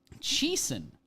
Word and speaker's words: Chiasson: Chiasson. That is how you say it.